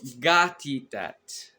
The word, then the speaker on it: nekatitat: So, gatitat. Gatitat. Gatitat means my mother. But the word is spelled nekatitat, which means, or no, that's my aunt.